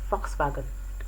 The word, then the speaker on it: Volkswagen: this set will be the car v-o-l-k-s-w-a-g-e-n which is pronounced as volkswagen volkswagen not volkswagen very quickly we look